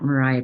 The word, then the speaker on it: Myriah: uh you can find me on Instagram at Mariah um it's spelled a little different m-y-r-i-a-h um or my